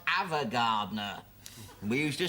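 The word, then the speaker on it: Ava Gardner: Evergardner. It's pronounced Avagardner.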